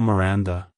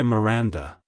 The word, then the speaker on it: Miranda: sound at the end avoid stressing the first syllable too much like hello Miranda goodbye Miranda if you found the